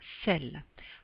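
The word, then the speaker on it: celles: singulier pluriel ce pluriel celle avec un dess prononciation identique selle selles prononciation ceux comme si c'était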